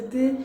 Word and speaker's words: de: The most correct is de, but you will hear a lot of us saying que, okay? And you might not even hear the de because it's hardly pronounced. The e's at the end of words are not pronounced, and the de is it's just an added bonus there, almost like a bridge in between words.